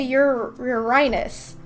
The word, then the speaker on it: Uranus: I mean, isn't that how you pronounce it? You're supposed to say Uranus. I mean, that just sounds like urine, though.